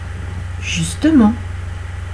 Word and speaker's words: justement: Le E est prononcé lorsque on a 2 consonnes avant et une consonne après. Justement. D'accord? Justement, on a 3 syllabes. Vous avez eu 2 consonnes avant, le S et le T, une consonne après, justement, c'est le M.